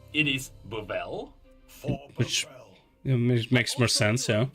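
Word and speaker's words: Buvelle: we learned that the family's name is not pronounced Buble it is bubble it makes more sense yeah the dependence higher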